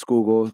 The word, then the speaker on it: Schuylkill: It's pronounced Schuylkill, which is the river in Philadelphia.